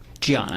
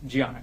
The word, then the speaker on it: Diana: Gianna. It's spelled with a D, but she's Brazilian. Okay. So he was married to a woman pronounced Gianna, correct?